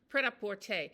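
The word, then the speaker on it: prêt-à-porter: It sounds really kind of pret-à-porter.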